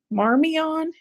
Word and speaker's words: Marmion: the couple that runs it, Rob and Allie Marmion is how their name is pronounced.